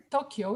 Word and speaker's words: Tokyo: Tokyo in Japanese language has 4 on, to, o, because it's a long o, ky is another unit, and then the o, so it's 4 on. In English, we say Tokyo, which is 2 syllables.